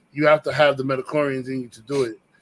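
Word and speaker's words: Midi-chlorian: That's the term, Metachlorian?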